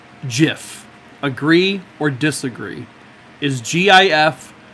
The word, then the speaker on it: Jif: on on on bread jiffy Jiff Jiffy it's not pronounced giphy spread some giphy on my